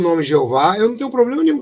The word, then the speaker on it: Jeová: tentavam colocar aqui Jeová eles usavam Exatamente Essa pronúncia em português Jeová né que é j e h o v h oh jehova né os portugueses usavam isso